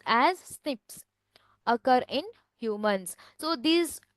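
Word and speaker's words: SNP: DNA difference that is a single nucleotide polymorphism pronounced as Snips occur in humans so these all features so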